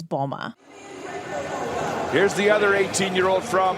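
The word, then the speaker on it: Mboma: part of the reason so many announcers pronounce her name wrong I've heard bomba Mamba M bomba but just so we're clear her last name is Bulma here's the other 18-year-old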